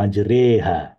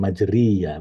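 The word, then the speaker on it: مجريها: wa mursaha innabiofurur rahim jadi ini bacanya majreha bukan majriya bukan majro tapi majreha gitu Ini salah satu yang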